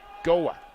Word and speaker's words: Goa: So Ira Thorpe let me know it is actually Goa, not Gawa, which I mispronounced earlier.